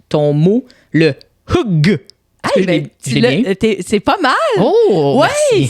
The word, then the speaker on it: hygge: Mais c'est parce que ce qu'il faut savoir, c'est que ça s'écrit H-Y-G-G-E, mais ça se prononce Hugg.